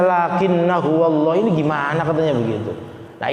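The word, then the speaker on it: لَٰكِنَّا هُوَ ٱللَّهُ: Terus dalam surah Al-Kahfi lakinna huwallah, tulisannya lakinna huwallah, dibacanya lakinna huwallah. Hamzahnya tuh apa, alifnya tuh alif ziyadah, itu ada tulisannya tapi tidak dibaca.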